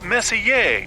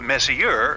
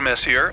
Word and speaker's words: Messier: well young lady the m stands for Messier pronounce Messier not Messier as in is your room messier than mine Charles Messier I mean Messier to be precise was a